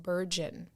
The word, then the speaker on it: burgeon: It's pronounced burgeon. It means begin to grow or increase rapidly, right? And so I will just put this in the atmosphere. The Book of Dawn continues to burgeon because she keeps it so real.